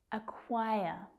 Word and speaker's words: acquire: Acquire. Acquire. Where's that stress? Second syllable. And again, we've got this k, w consonant cluster. Quai, quai, acquire.